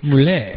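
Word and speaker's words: Mulé: Plus the other thing, and Anthony, or my partner Anthony in the show, Moulet, not Mule, but Moulet. It is spelled M-U-L-E, but with the little thing on the end.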